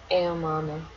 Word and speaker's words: Aomame: Aomame? Yeah. Aomame.